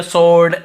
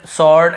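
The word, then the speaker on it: sword: लेकिन यहां पे हमको डब्लू को नहीं पढ़ना। स्वर्ड ऐसे नहीं पढ़ना है। व को नहीं पढ़ना। केवल स्वॉर्ड ऐसे पढ़ना है हमें।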